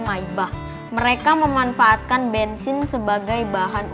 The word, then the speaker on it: Maybach: daimler dan wilhelm maybach aslinya tulisannya May gitu Tapi bacanya maibah mereka memanfaatkan bensin sebagai